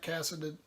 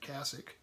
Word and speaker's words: cassock: Like crows, they hover black cassiced, how do you say that? Cassock.